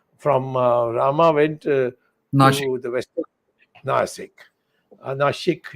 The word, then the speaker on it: Nashik: Nashik is the correct pronunciation.